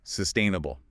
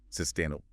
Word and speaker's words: sustainable: And also, it's important to pay attention to where the emphasis falls. Right, the stress. Yeah, it's on the second syllable. Yeah. Sustainable. Sustainable.